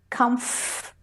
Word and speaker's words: comfortable: who don't realize that the OR, the or is not, it's an invisible, it's an omitted syllable, it gets left out. People say comfortable, and it's comfortable.